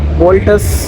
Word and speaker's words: Vaults: Battery आपके सामने दिखाएं, वॉल्ट्स के VAULTS वोल्टस, इसका सही प्रोनाउंस है वॉल्ट्स।